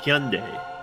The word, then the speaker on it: Hyundai: Hyundai.